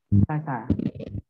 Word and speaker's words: Sasha: Sasha. Gimana bacanya? Sasa.